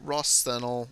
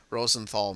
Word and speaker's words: Rosenthal: their craft are standard High maneuverable Rosel machines Rosenthal machines sorry I mispronounced that uh it's got